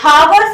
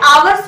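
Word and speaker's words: hours: ठीक है, तो जो आवर्स पढ़ते हैं ना हम लोग, मतलब इसे हावर्स नहीं आवर्स पढ़ा जाता है, इसीलिए यहाँ पर एन आता है।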